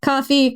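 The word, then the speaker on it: Ko-fi: Coffee Kofi. I don't know how to pronounce this. Kofi. It's spelled Kofi, but I guess it's supposed to be coffee.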